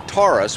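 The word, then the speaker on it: Taurus: of them's called the torus which is like the Ford car both in the way it's pronounced and spelled and that one is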